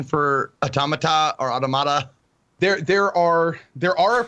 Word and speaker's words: Automata: The way that I've heard to say it is say the word auto and say the word mata. So, and if you say it's automata.